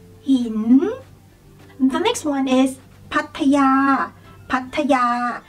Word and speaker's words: Pattaya: The next one is Pattaya, Pattaya. So basically you guys can pronounce this one pretty much correctly, like Pattaya, Pattaya, Pattaya. So it's easy for you guys.